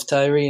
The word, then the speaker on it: Tiree: So I'm 16 years old, and I'm from the Isle of Tiree in Scotland.